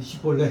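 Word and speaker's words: 쉽볼렛: 그래서 시볼렛을 제대로 발음하지 못하고 씨볼렛 그러니까 너희 시키 에브라임이네. 그 자리에서 그 발음을 가지고 잡아 죽인 겁니다. 에브라임 사람들이 급하게 도망하여 요단 나루턱을 걸려라 할 때 너 일로 와봐. 너 씨볼렛 해봐.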